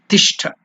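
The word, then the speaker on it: तिष्ठ: Tishtha. That's the Sanskrit word. Ti. Ta plus E. Ti. It is not elongated, it is Hrasva.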